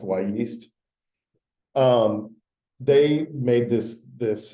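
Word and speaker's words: Wyeast: call it why East it's actually W and then the word yeast but it's pronounced why yeast um they made this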